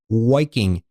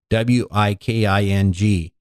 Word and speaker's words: Wiking: And it's written by a guy named Meik, Meik, Wiking, Wiking, sort of like Viking, my favorite football team, with a W.